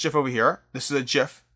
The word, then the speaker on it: GIF: Apparently, the creator of the GIF said it's pronounced GIF.